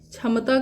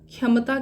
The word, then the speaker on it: क्षमता: 6 हिंदी का है, क्ष बोलते हैं इसको, क्ष, ये क्षत्रिय वाला छ है। ठीक है ना, ये क्षत्रिय वाला छ है, लेकिन जब आप इसको ओडिया में प्रोनाउंस करेंगे ना ये छ को, तो इसका प्रोनाउंसिएशन ख्य होता है।